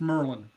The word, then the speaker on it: Maryland: well first of all learn to pronounce maryland right it's merlin merlin merlin you know walmart i